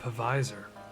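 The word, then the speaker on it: Pfizer: two doses of that pavisor uh i think that's how you pronounce it the p-f-i-z-e-r alexander graham bell didn't invent the name phone for us to not say that p behind anything anyways did i tell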